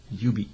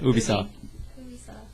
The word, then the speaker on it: Ubisoft: and then next isub Ubie yub not UB damn it Ubisoft Ubisoft Ubisoft Ubisoft you don't pick